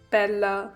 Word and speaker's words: Bella: So I'm sorry, Bella the Sim. By the way, that's how my name is pronounced, Bella.